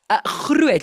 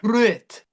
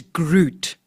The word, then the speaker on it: Groot: Groot, you've got to roll your R. Groot.